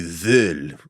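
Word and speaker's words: Vööl: It's actually Vool. It's VOOL with umlauts over the O's.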